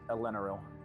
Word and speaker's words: Elenil: Uh, Elenil, the strange second syllable. Elenal. Understood. Elenel.